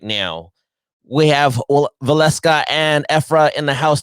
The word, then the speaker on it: Waleska: She just told me the proper pronunciation because I do see a lot of fans from around the world saying Waleska, but it's actually Waleska.